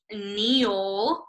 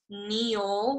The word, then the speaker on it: kneel: trigger this one is Neal this one was where the K is silent it doesn't make any sound Neal whenever you kneel you're